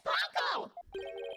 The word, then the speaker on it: Paco: So it would appear that Miss Panco here can't identify what it moved. Why do you keep saying her name wrong? You man rude. My name is Paco.